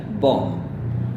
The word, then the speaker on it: bomb: Jadi Anda bisa bilang bomb, yaitu ini bomb, jadi singkat bomb. Atau bisa gaya Amerika yaitu bomb. Alright, once again bomb. Jadi ini bunyi A yang panjang seperti car.